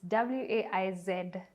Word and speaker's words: Waizeh: How do you pronounce this Waizeh? It's Waizeh.